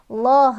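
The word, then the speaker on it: الله: Huruf sebelumnya berbaris dhammah sehingga lafaz Allahnya dibaca loh bukan lah.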